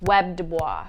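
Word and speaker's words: W.E.B. Du Bois: People told me how to pronounce this. Webb Dubois.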